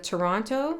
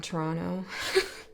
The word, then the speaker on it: Toronto: There's this thing, like people who aren't really from Toronto always pronounce the last T.